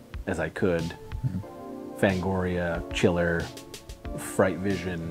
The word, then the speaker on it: Chiller: Fangoria, Chiller, Fright Vision. It's pronounced Chilla.